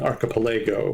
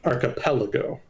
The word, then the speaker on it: archipelago: And then I was also mispronouncing archipelago, which is apparently correctly pronounced archipelago.